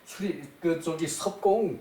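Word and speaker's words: 葉公: 자, 칠편 수리편에 요것도 수리편에 있는 말도 대단히 좋은 말이라서 섭공 여기 잎사귀 엽이에요. 나뭇잎 엽 나뭇잎 엽인데 요 이름으로 쓰이고 지명으로 쓰이면은 섭이라고 섭이라고 읽어요.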